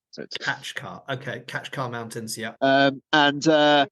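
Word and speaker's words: Kaçkar: yell mispronouncing everything around actually I think it's the catch car like it's catch car it's not Kat car I kept saying katar at the beginning it's actually catch car catch car okay catch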